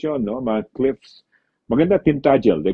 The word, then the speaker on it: Tintagel: So yun, pinuntahan lang namin and then we went to Tintagel. That's how they pronounce it, Tintagel, hindi Tintagel. Tintagel where you have King Arthur.